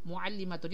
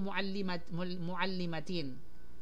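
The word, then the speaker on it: مُعَلِّمَةٌ: Now, fil bayti muallimatun. Yan po yung tama at hindi po muallimatin.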